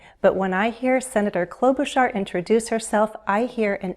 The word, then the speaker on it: Klobuchar: 3 syllables and the first syllable is stressed. It follows the same stress pattern as Buttigieg. Buttigieg. Klobuchar. If we break it up into 3 syllables, it is easier to say. Klo, we have a consonant blend, KL, klo, long O, boo, long oo, shar, with an SH, sh, shar.